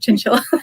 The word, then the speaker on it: Chinchilla: this song because like my last name rhymes with the killer you know chinchilla and that's my real